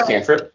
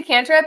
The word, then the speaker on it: cantrip: Call it canrip in. It's a cantrip.